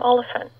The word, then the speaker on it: Olyphant: it this way i think that's how you pronounce it team oliphant yeah i've had confirmation from arthur mitchell everyone